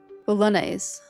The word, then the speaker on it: Bolognese: Silly English mouth having a hard time pronunciation. Bolognese.